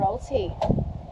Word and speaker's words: Wauraltee: Okay, so tell us about Wauraltee Beach. I think I just said it right for the first time. Wauraltee.